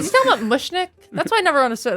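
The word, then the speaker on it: Mushnik: It's literally pronounced how it's spelled. Mushnick.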